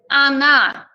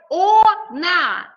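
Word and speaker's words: она: say she we use anna we write o na but pronounce anna there is a difference between pronunciation and between writing soon anna and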